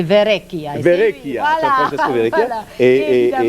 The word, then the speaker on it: Verrecchia: Moi, je me dis que si tu es capable de prononcer Benezra, tu es capable de prononcer Verrecchia. Verrecchia, voilà.